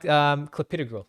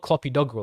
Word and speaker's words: clopidogrel: And then like clopidogrel, that's another one.